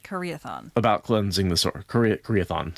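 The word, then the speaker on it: Karaethon: You think, there's nothing in the Corinthian prophecy Koreathon about cleansing the source. Koreathon, sorry. It's not Corinthian. Corinthian is how I always pronounced it when I was reading the books back in the day.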